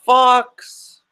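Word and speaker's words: Fawkes: famous historical characters like Jack the Ripper guy Fox which is spelled F a w ke s not foxp2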